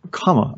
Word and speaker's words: Kamala: oh by the way her name is comma i think it's come on i heard her say